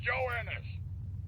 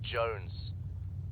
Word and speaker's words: Jones: Private Joe Ennis! Joe Ennis! Joe Ennis! Where the hell are you? Sir, for the millionth time, my name is pronounced Jones. Jones.